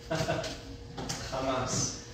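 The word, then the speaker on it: חָמָס: This is how it's pronounced. Hamas.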